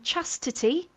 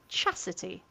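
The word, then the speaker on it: Chasity: Um now Emily, I'm really glad you mentioned uh Chity who everyone keeps calling Chastity and still they have not clicked that there's no second T. It is just Chity.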